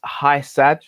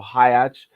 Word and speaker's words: Hysaj: the next topic elsie's high sad i believe that's how you pronounce his name or hajj um the napoli fullback